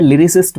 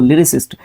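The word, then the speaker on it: lyricist: देखो pronunciation important हो जाती है। लिरिसिस्ट बोलते हैं हम इसको। लिरिसिस्ट।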